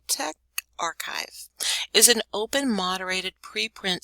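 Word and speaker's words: TechRxiv: oh look at it it tells me how to pronounce it te text archive okay Tech archive is an open moderated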